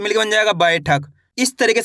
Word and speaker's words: बैठक: बा में आई की मात्रा बै, ठ क, तो मिलकर बन जाएगा बैठक। इस तरीके से आपको पढ़ना है बैठक, ऐसे नहीं पढ़ना बैठक। कैसे? बैठक। आई करके उच्चारण निकालना है।